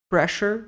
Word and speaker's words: pressure: sinais vitais Blood Pressure como se fosse pre Pressure Blood Pressure intravenos catheter